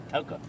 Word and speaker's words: Toccopola: Toccopola.